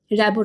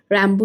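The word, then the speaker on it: Rimbaud: ফরাসি উচ্চারণ নিয়ে নানা মুনি নানা মত। বাংলার র্যাবো নামটি দেখে অনুমান করা দুঃসাধ্য ওই নামের মূল ফরাসি রূপ। ফরাসিরা অক্ষরটিকে অনেক সময় রয়ের মতো উচ্চারণ করে। রেডিও হয়ে যায় রাদিও। রিমবার্ডকে আমি মার্গারিটা কণ্ঠে র্যাম্বো শুনেছি।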